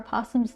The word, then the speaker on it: possums: Americans say possums and the O is silent, just how it's spelled.